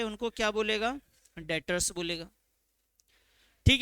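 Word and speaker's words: debtor: क्या बुलाते हैं डेटर्स मैंने आपको बताया था कि इसमें जो है एक चीज साइलेंट है कौन सी चीज साइलेंट है बाबू उसमें ने यह बी नहीं पढ़ना है बी साइलेंट है आपके लिए ठीक है तो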